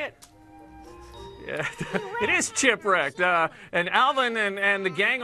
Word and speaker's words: Chipwrecked: Yeah, it is Chipwrecked.